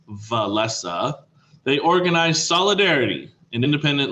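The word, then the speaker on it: Wałęsa: I know it looks like Walesa, but it's pronounced Walesa.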